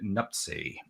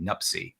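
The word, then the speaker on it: Nuptse: right is it uh lotz l-h-o-t-s-e the e is silent i believe lots and the other one is uh named nupsi n-u-p-t-s-e nupsi nupsi okay so these are the three peaks in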